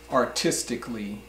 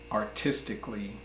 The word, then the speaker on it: artistically: in America say them the a is not pronounced so I'll start off for example there's the word artistically artistically it has an A at the end in the last five letters are C al ly so you might think